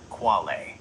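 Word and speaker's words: quale: The core philosophical concept you asked about is qualia, singular qual, pronounced qual.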